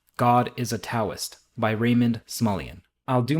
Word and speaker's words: Taoist: I also know that the word Taoist is pronounced Taoist, but for whatever reason that feels disingenuous to me saying it.